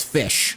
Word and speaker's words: Ghoti: it right it is fish but it's SP it's still spelled g h o ti so in the word laugh you use GH to make a f sound so F uh in